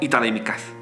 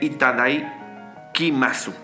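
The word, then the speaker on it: いただきます: Yo siempre lo escucho nada más como Itadaimikasu, pero se escribe Itadaikimasu, ¿ok?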